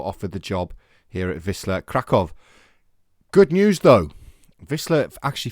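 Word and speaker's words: Wisła Kraków: now the manager of Whistler krakov I think it's pronounced Vista krakov episode number 81 of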